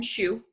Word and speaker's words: Xu: my name is Xu that's spelled Xu but it's pronounced shoe which is always a